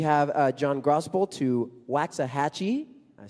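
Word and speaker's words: Waxahachie: on out we have uh John grosel to waxah hatchee I said it right this time uh in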